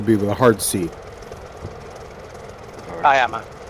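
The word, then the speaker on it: Cuyama: Okay, so today we are in uh the state Santa Barbara County at new um Syana if that's the correct pronunciation.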